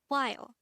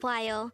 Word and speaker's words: 봐요: And if you notice, the wa sound is formed from the combination of the O and A sound.